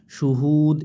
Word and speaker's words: শুহুদ: দুই পেশ দুন শুদুন এখানে অক্সফের কারণে কিন্তু দালের দুইটা পেশ সাকিন হয়ে যাবে ঠিক আছে শুহুদ এরকম উচ্চারণ হবে শুহুদ হাওয়া পেশ হু পেশের